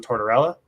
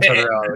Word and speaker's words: Tortorella: I think his name is pronounced John Tortorella. Pretty good. Yeah, I think it is. That's a hard name for you to say versus all the other ones. No, it's Being sarcastic. it's John Tortorella, the guy who hates anyone.